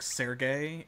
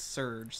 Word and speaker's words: Serge: thought of even though his name is spelled like sergey it's you know it's surge so i'm already messing